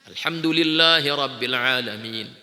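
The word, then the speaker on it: الحمد لله رب العالمين: Alhamdulillahi Rabbil Alamin. Dia baca alhamda lillahi Rabbil Alamin. Dia telah berdusta atas nama Allah.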